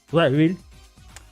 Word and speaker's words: Wawel: Wawel Royal Castle, pronounced Wawel.